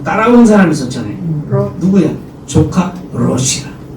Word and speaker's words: 롯: 사람 있었잖아요 누구야 조카 롯이 그 이거 발음을 잘해야 돼요 루라고 해고 롯 이거는 분명 해야지 아니면 이게 헷갈리면 크일라 그 롯은 롯의 이름은 뜻은